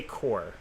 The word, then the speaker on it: corps: something crazy taxi yeah you say core core okay p is silent well that's like the